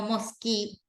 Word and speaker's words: mosque: Okay, that is the pronunciation of this. No mosque, no mosque, mosque.